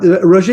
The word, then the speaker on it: Roger: the yeah okay yeah we use a French Express the French pronunciation uh Roger is primarily a gold